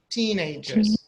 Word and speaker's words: teenagers: So which syllable is stressed? Is it the first one or the second one? Teenagers. I think the first one. Correct. Correct. Teenage. Yes, the first part is stressed.